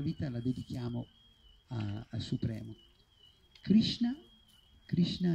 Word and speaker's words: Krishna: Krishna invece si pronuncia con la Sh, né Krishna né Krishna, ma né sibilata né Krishna, proprio come sciare. Krishna.